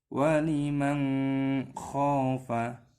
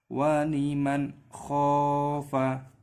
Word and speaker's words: waliman khofa: Jangan dibaca waliman khofa, didengungkan seperti itu. Tetapi yang benar cara membacanya waliman khofa.